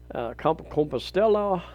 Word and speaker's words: Compostela: low end consolation consolation i've been corrected a number of times on that pronunciation it's more of a spanish pronunciation compostela and even going further